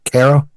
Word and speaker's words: Cairo: that again Tad how do you say that Caro Caro Caro okay so in Caro that would